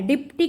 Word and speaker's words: deputy: जो डेप्यूटी collector है, डिप्टी collector बोलते हैं जिसको, डिप्टी की स्पेलिंग ये होती है डेप्यूटी।